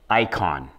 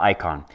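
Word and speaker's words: Aikon: lacroix spelt with an oix a spell it's pronounced lacroix so this watch is called the icon spelled a-i-k-o-n a-i-a-i but it's called the icon so it's sort of trying to mimic i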